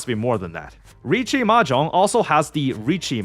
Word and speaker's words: riichi: Riichi Mahjong also has the riichi mechanic, where if you're one tile away from a winning hand, you can call riichi, where usually just pronounced reach in English.